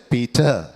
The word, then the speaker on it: Peter: Peter, no r, or is silent, or is Peter.